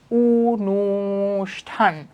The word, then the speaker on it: অনুষ্ঠান: কিন্তু আ তাহলে খেলা আচ্ছা অনুষ্ঠান শব্দের সঠিক উচ্চারণ কোনটি এই যে দেখো অনুষ্ঠান শব্দের সঠিক উচ্চারণ কি ছিল আমার অনুষ্ঠান অনুষ্ঠান অনুষ্ঠান এই যে অনুষ্ঠান শব্দের অনুষ্ঠান শব্দের সঠিক উচ্চারণ কি উনুষ্ঠান উনুষঠান তাহলে কোনটা হবে আমার আসার উনষঠান নির শিরচ্ছেদ শব্দের সঠিক